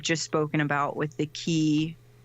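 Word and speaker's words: 気: the essence of life itself in Japanese it's key as in a do their version of chi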